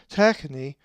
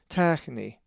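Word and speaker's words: τέχνη: If you said techni, you are correct, for the accent is over the epsilon, techni.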